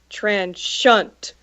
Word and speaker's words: Transient: So the album title is spelt Transient, and I said it's pronounced transient. But Caleb, I said it's pronounced transhunt.